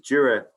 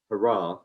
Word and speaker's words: Jura: So Jura, or if you're in Texas, hurrah, as the Texans like to call it. I haven't quite got the hang of the pronunciations in that market, but there we go.